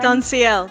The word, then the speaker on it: SONSIL: SONSIL.